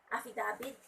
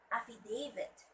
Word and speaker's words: affidavit: firm, they would say affidavit. Mga lanak man affidavit, they would say that, which is very wrong. It should be affidavit. And the stress word should be at the second syllable, affidavit.